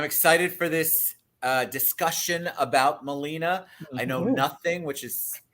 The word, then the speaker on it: Melina: Central Florida Vocal Arts is putting on or presenting Melina, did I say it right?